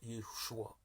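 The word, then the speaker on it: ישוע: Jésus en hébreu se prononce Yeshua, le Sauveur.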